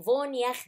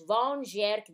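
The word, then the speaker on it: Von Gierke: طبعا ده عالم ألماني والكلمة دي بالألماني بتتنطق فون ياخ ديزيز، إنما إحنا هنقراها بالإنجليش فون جيرك ديزيز.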